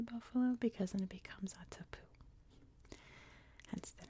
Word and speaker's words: Attapeu: Attapeu, though, that is how it is pronounced. Attapeu, and if it sounds a little poopy at the end, that's because it is actually meant to.